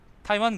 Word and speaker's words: 타이완: 그러면 그래야 되는거 아냐 생각해보니 대만도 그렇네 타이완 그래야지 3 4 번 더